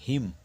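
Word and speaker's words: hymn: condemn অর্থাৎ নিন্দা করা এইচ ওয়াই এম এন হিম দেখো এন উচ্চারণ নেই তাই হিম হচ্ছে স্ত্র পরে আসি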